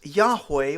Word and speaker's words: Yahweh: of God which is the four Hebrew letters pronounced most often is Yahweh or latinized as Jehovah saying the Lord evokes